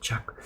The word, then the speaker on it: Jacoulet: there, the printmaker Paul Jacquelet, how do you pronounce it? Jacoulet.